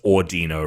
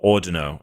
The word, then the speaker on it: Audino: But um and and obviously it's ordino right? So uh if we want to yeah if you want Oh ordino okay I've been pronouncing it oh cuz ordino may be derived from audio and a pun on